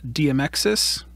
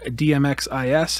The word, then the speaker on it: DMXIS: cool little box called DM exes or DMX is however anyone wants to pronounce it I call it DM exes and it works for